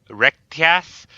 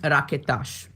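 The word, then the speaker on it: Raketaš: Oh God, BOV Rectas. Okay, yeah, so get it out. Okay, it's pronounced Raketas. Rocketas. That sh, it's hard to pronounce because it's an SH.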